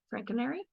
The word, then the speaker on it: Franconeri: woman Dr franker Frank coner is that right Frank coner Frank coner very good I was like how is it that you exactly pronounce her name hey I'm Frank just like it's written Dr is